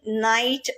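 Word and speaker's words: knight: கே is always silent before என். அதாவது கேயோட என் சேர்ந்து வரும்போது அங்க கே சைலண்ட் ஆகுது. எக்ஸாம்பிள் நீ, நைட், நோ. ஓகே, இந்த வேர்ட்ஸ் எல்லாம் நம்ம டே டு டே லைஃப்ல யூஸ் பண்ற வேர்ட்ஸ் தான். நீ, நைட், நோ. நீன்னு சொல்லும் போது என் நீ இன்னும் இதுதான் கேக்குறது தவிர கேயோட சவுண்ட் கேட்கறது இல்ல.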